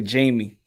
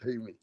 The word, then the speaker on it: Jaime: Hey, raps, I like to say Jamie. Yeah. Yeah, man. Unfortunately, when I see the J, I call him Jamie. You know what I'm saying? I'm not used to saying Jaime.